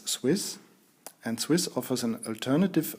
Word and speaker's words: SW15S: I simply pronounce this Swiss.